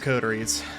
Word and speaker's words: Coteries: codies of New York I kept saying codies but I'm going to try to correct that by saying codies instead I think codies sounds better than codies but it's pronounced codies anyway we're resting up